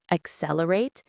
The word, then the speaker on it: accelerate: Accelerate the transition. Stress on the second syllable of accelerate and the second of transition.